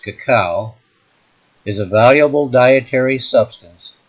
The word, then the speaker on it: cacao: britannica page 628 reveals cocoa more properly pronounced cacao is a valuable dietary